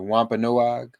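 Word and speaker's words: Wampanoag: am I correct the the Wampa noag am I pronouncing that correctly is that accurate that's correct and you know last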